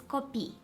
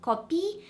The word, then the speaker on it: copii: asking in the comments if copii and copii are pronounced the same, and I hope you can hear they have different pronunciations. So this one's copii and this one copii.